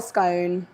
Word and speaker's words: scone: my opinion it's either scone or scone Jess you a scone scone scone is in gone scone is in gone